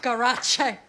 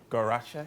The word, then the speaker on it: Garache: It's pronounced Garache, Michael. Oh, and you're Garache?